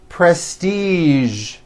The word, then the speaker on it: prestige: television very good now there are only a few words that have the voiced sound at the end a few of these words are the color beige the word massage and the word prestige okay now that you